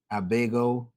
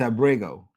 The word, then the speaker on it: Abrego: Abgo. It's Abrego.